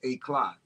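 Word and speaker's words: éclat: e-cl, which really is a French term that's originally pronounced a clot where the cute accent is over the uh, e.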